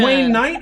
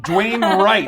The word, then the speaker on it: Dwayne Wright: pronunciation. And is it Dwayne Knight or Dwayne Wright? Dwayne Wright.